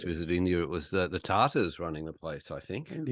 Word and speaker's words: Tata: When I first visited India, it was the Tatars running the place, I think.